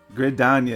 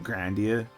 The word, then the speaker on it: Gridania: Gridania is how it's spelled, how you actually say it. I've already said Grandia, because, you know, I can't pronounce shit.